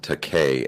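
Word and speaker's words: Takei: goes in it's pronounced te K as in I'm gay oh right okay so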